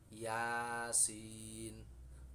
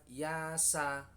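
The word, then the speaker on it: يس: Jadi bacanya bukan yasa tetapi yasin, toha gitu.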